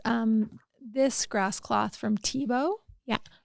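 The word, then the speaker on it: Thibaut: This Grass cloth from TBO yeah TBO is spelled t h i b Au u t and tbo's a a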